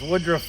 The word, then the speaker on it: Woodruff: sure my channel is Woodruff Woods that's w-o-o-d-r-u-f-f Woods just as it's spelled Woodruff is my last